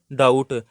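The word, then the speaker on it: doubt: अब इससे नेक्स्ट यह देखें डाउट इसमें बी नहीं पढ़ा जाता।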